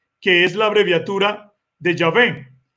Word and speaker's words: Yahvé: dos vocales intermedias y se pronunciaba el nombre como yahvé como yahvé por el año 1000